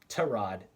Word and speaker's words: Tyrod: he's saying herbert's starting what what happened to tyrod anyhoo turns out sorry sorry tehran to rod is is the way apparently it's pronounced so let's try to try to stay proper here tarad uh had some sort of chest injury he